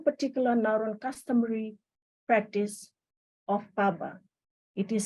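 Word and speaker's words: pabwa: Later in my presentation, I will discuss more on one particular Nauruan customary practice of Paba. It is spelled P-A-B-W-A.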